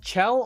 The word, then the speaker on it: Chell: Is it Chell or Shell? Chell. Chell, Shell, Chell. Like a cha-cha.